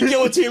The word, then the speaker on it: guillotine: toilet swooping like meat guillotine, my buddy. Guillotine. What'd I say? Guillotine. You said Guillotine? Guillotine. guillotine. There's two L's. What do you want? This is America. We pronounce our L's.